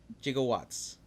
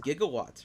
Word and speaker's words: gigawatts: funny it's funny cuz the way he mispronounced is a gigawatts right you want those hard consonants I guess yeah and even mispronounces gigawatts which I think gigawatts works better right yeah you know